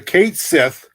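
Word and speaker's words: Cat Sìth: All right, Tim, since you can pronounce it, tell us about the Cat of the Mounds. Okay, it's a Kate Sith, and for those that don't know, Ireland is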